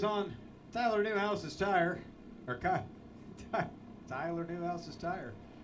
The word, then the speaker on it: Newhouse: Tyler Newhouse's tire. I thought I said it wrong, but dang it, that was actually how you're supposed to say it.